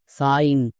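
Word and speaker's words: sign: plus আইন এবার একসঙ্গে উচ্চারণ করো কি হবে সাইন এরকম করে আমাদের উচ্চারণ করতে হবে ওকে এবার এই আই জি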